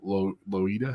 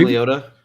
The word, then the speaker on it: Leota: There isn't much animatronics there until you get the Madame Loida. How do you say it? But Madame Leota.